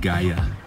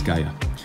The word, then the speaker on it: Gaia: The app is called Gaia, not like UI. Look at how it's spelled right here. Doop. It's Gaia, and it allows you